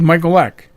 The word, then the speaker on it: Michalec: would say Michael like Mike like the kid Michael Eck yeah you say you